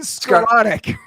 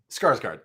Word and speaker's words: Skarsgård: Ben Skroken. Skarsgård.